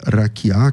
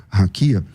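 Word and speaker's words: רקיע: E essa e essa palavra é raquiá que você por alguma razão pronuncia raquia.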